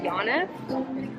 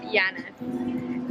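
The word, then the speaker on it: Yaniv: The game that we're playing, the card game that we're playing, is called Yana. It's spelled Yanev. Yana.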